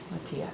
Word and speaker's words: Matilija: It's spelled M-A-T-I, Matilija, M-A-T-I-L-I-J-A, Matilija Poppies.